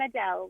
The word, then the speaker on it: Adele: hello yes it is I'm Adel like the singer yeah yeah and and